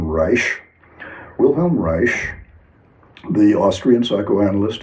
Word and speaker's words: Reich: Wilhelm Reich, Rei C, proper pronunciation, Reich.